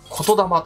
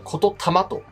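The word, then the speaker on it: 言霊: of spirit and mind it called Kotodama (the word spirit) proper pronounce would be Kototama Kojiki and Kototama The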